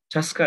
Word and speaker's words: TSCA: The Toxic Substances Control Act, pronounced as TSCA, provides EPA with authority to require reporting, record keeping, and testing requirements and restrictions related to chemical substances and or mixtures. TSCA addresses the production, importation,